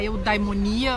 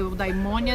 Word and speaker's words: eudaimonia: A felicidade é colocada com um termo que em Aristóteles é a eudaimonia ou eudaimônia, depende de como as pessoas querem pronunciar, porque grego arcaico ninguém sabe muito bem como que se pronuncia.